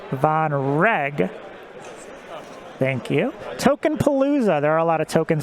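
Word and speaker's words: Vonreg: on the flank here i guess i should say it's pronounced von reg thank you tokenpalooza there are a lot of tokens out on the board and vonrag is taking that strain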